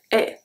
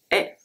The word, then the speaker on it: haie: Last one, une haie. Une haie. Don't pronounce the H either.